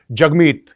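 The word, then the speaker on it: Jagmeet: ये इसने अपने नाम को प्रोनाउंस कैसे करते हैं, ट्विटर पे ये दिखाया है कि जगमीत is pronounced as जग and rhymes with hug.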